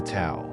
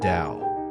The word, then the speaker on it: Tao: in the universe is what taism refers to as the towel pronounced da or the way the